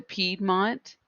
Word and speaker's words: Piedmont: the blue ridge mountains the piedmont which also has a pronunciation key pied mont these bold words are